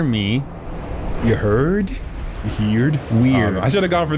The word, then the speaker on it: Wyrd: There's a different entrance to each word realm. Word. Word. Weird. What rhymes with weird? Beard rhymes with weird. Weird. So EIRD rhymes with EARD.